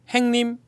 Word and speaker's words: 행님: 행님, 형님도 아니에요. 행님. 행님 대단합니다. 바로 이제 본토 발음 바로 나오네.